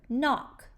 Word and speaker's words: knock: How are we spelling N today? That's right, K-N. What's the second sound you hear in the word knock?